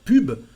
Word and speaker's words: pub: So here we pronounce the B, and also the word pub. Pub is an apocopy, a contraction of another word, the word publicité, advertisement. So here we say pub to say ads, and we pronounce the letter B.